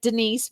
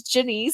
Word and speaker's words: Genese: is super super unique it's spelled with the G it sounds kind of like a J sounds like Denise but it's Jenny so you can find